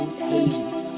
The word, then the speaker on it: Havey: Havey. It's just the word have with the Y on the end. Think of it like that. Yeah. Hey, Mr. Havey.